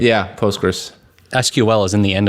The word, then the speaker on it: Postgres: ago somebody wrote Somewhere it's post cql something I think it's usually referred to as postgress but it is like yeah postgress SQL is in the